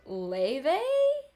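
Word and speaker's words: Leah: is proud of Le it's pronounced Le why is it spelled like that then Le who's Le oh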